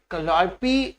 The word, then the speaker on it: Calliope: Spelling होती है उसकी CALLIOPE, CALLIOPE, कैलियोपी प्रोनाउंस किया जाता है, और ये म्यूज ऑफ एपिक होती है।